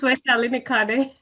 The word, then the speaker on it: Vaishali Nikhade: My name is Vaishali Nikhade.